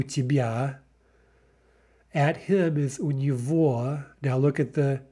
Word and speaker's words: у него: тебя, at him is у него, now look at the г, right, the г there is pronounced в, у него, at her is у